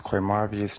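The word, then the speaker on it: Qmarvious: ] take that goddamn plea deal up here spell it for this young lady right here okay my name is qu marvus first name q m a r v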